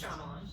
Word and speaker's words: Shyamalan: pronounced? It's Shyamalan.